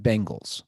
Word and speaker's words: Bengals: earrings I'm not sure phonetically it would be pronounced Bengals corre Bengals I mean